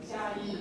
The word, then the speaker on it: Chiayi: My pronunciation is okay. Chiayi, close to any Shan Mountain? Chiayi.